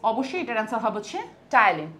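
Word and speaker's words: ptyalin: অবশ্যই এটার অ্যান্সার হবে হচ্ছে টাইলিন। পি দিয়ে হলেও এটার উচ্চারণ হবে টাইলিন।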